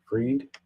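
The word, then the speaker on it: Fried: founder Sam bankman fry how do you say his name freed FTX founder Sam bman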